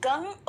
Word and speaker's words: गं: गण के आदि अर्थात ग कर पहले उच्चारण करें, उसके बाद वर्णों के आदि अर्थात अ उच्चारण करें, उसके बाद अनुस्वार उच्चारित होता है। इस प्रकार अर्धचंद्र से सुशोभित गंग ओंकार से अवरुद्ध होने पर आपके बीज मंत्र का स्वरूप ओम गंग है।